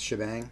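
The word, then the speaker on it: shebang: exclamation point the uh that's pronounced shabang um i guess for the hashtag and bang for the exclamation point and then the path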